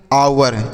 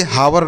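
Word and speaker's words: hour: गया दोस्तों अगला देखिए एच ओ यू आर तो इसे हम पढ़ते हैं आवर इसे हावर नहीं पढ़ते यहां पर जो एच लिखा गया है ना यह साइलेंट होता है इसे नहीं पढ़ते हैं तो इसे आवर पढ़ेंगे आवर का अर्थ होता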